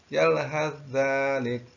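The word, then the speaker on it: يلهث ذلك: Tetapi yang dimaksud di sini apabila kuat membacanya maka dibaca adalah yalhaz. Jadi masuk kepada sa-nya itu masuk pada zal. Yalhadzalik.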